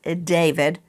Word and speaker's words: D4VD: In hindsight, the title Romantic Homicide may not have been a good choice for the artist known as David. It looks like D4VD. It's David.